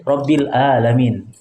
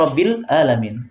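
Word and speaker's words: العالمين: Ya, seperti yang merubah makna seperti Rabbil Alamin. Harusnya Rabbil Alamin pakai ain, Tuhan semesta alam. Kalau kita ganti menjadi hamzah, karena dia tidak terbiasa dengan hamzah, tidak terbiasa dengan ain, dia membacanya Rabbil Alamin.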